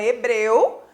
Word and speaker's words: hebreu: Porque a letra H não emite som. Então, ela existe na escrita da palavra hebreu, mas ela não é pronunciada, né?